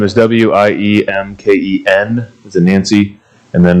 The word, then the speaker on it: Wiemken: is that pronounced Wiemken? Wiemken. Wiemken. Just like take out the first E.